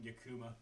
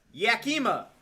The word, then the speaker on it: Yakima: You pronounce it completely wrong. Yakuma Yaka. Yakima.